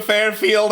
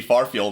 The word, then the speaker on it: Farfield: It was supposed to be Farfield. I mispronounced it.